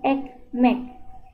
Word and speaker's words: ekmek: Jika huruf E dalam bahasa Indonesia ini sama penyebutannya dengan dalam bahasa Turki E. Seperti dalam pengucapan kata besok atau enak. Besok, enak. Perhatikan teman-teman huruf E-nya. Kemudian sebagai contoh ini roti. Roti yang kita sebut dalam bahasa Turki ekmek. Ekmek. Ya, jadi E bukan E.